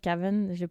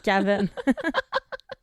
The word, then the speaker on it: Kaven: Là, je disais Caven, parce que c'est pas mon accent saguenay qui ressort. Ça s'écrit K-A-V-E-N, son nom. Caven. Mais je pense que je vais dire Kevin.